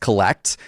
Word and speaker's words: CLLCT: You have launched your own media empire in the sports card and collectibles space called Collect, CLLCT, but pronounced Collect.